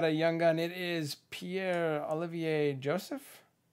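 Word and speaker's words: Pierre-Olivier Joseph: It is Pierre Olivier Joseph. Did I do that right? Yeah. It's a very French pronunciation.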